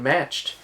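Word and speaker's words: Macht: is graveyard shift starring steven matched that's his name that's how you say it and brad durf as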